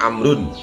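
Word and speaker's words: عمرو: Jadi kalau ada ain mim ra itu dibacanya Umar, kalau ada wawunya dibacanya Amrun. Untuk membedakan mana Umar mana Amrun, maka dipakai wawu kalau Amrun.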